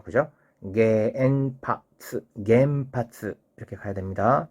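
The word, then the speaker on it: 原発: 그러면 겐파스 몇 박인가요? 하나, 둘, 셋, 넷, 네 박이죠. 그죠? 겐파스 이렇게 가야 됩니다.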